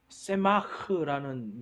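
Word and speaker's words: צמח: 그래서 세마흐라는 이제 라고 읽어요. 그러니까 제가 히브리어는 잘 모르지만 아무튼 뒷부분을 좀 강하게 합니다.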